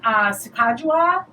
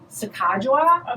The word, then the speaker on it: Sacagawea: But then Sacagawea is on the dollar coin now, and that's a different color.